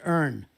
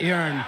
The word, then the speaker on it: urn: let them know that it's earn not yearn oh uh yeah because